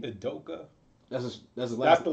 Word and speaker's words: Udoka: Shout out to how do you pronounce his name? Udoka.